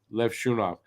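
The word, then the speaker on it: Levshunov: defenseman and they take Le shov by the way that is how it's pronounced Le shov um yeah I mean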